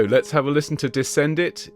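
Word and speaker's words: descendit: All right, so let's have a listen to Descend It. It's one He came down from heaven. Descend. It's definitely an E and an E sound at the end.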